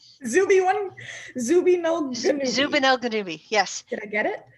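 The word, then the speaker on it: Zubenelgenubi: to the name of zubanelganubi it sounds kind of like obi-wan kenobi but messed up zoopy one zooby no zubanelkadumi yes did i get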